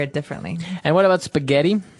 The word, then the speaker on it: spaghetti: differently and what about spaghetti spaghetti spaghetti oh you pronounce the Double T as well that's right okay so